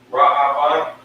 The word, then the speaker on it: Reuben: So this is this is how you pronounce it. Ra-A-Ban. Okay. This last fella, A-Shar. A-Shar. That's how you pronounce it. Ra-Aban and A-Shar.